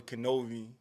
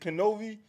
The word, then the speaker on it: Knovie: In other words, with my name, the K is pronounced, so K-N, and then V as in Victor.